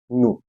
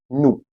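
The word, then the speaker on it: nous: so it means V new what is the pronunciation new here the spelling is n o u s but the S is silent until and unless after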